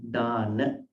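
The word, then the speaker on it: Dāna: Dana, D, A, long A, Dana.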